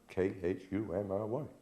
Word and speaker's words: Cymry: The correct name is the Cymry, Khumry.